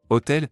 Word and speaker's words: hôtel: Hotel, is masculine singular beginning with a silent h bar oblique vowel sound, so 7 is used.